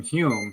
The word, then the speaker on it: Home: Douglas both he says he pronounces his name Hume but it's spelled home which always concludes me so I always called him Daniel home but apparently it's pronunciom